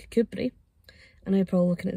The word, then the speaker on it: Kirkcudbright: names it's just uh doesn't quite get pronounced the way it's spelled but when I've actually